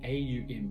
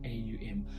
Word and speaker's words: Om: That's why they pronounce it A-U-M. It's spelled O-M but pronounced A-U-M.